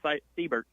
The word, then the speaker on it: Seibert: I will mention one name, though, who Tennessee fans haven't seen throw, Anson Seibert, or Seibert, I believe is actually how it's pronounced.